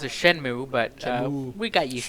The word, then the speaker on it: Shenmue: so excited about it, Shenmue! most people pronounce it Shenmue, but Shenmue. we got used Shamu. to Shenmue, so whatever. It sounds like the big whale Shamu.